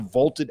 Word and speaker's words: VLTED: So go download the Vaulted app for free. It is spelled VLTED.